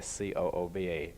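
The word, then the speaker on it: Scooba: nothing Elvis scuba diving I don't know it's pronounced SCO Oba well it's spelled SEO Oba so I don't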